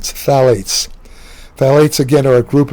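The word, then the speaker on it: phthalates: Another uh common uh obesogen is called phalates. It's spelled ph a l a t e. The p is silent. phalates.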